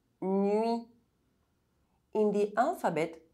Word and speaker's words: nuit: If the vowel U is followed by any other vowel, U is pronounced U. It's like the way we pronounce the letter U in French. U is a semi-vowel. It cannot be pronounced alone. It needs to be pronounced with another vowel sound in the same syllable. Nuage. Muet. Sueur. Nuit.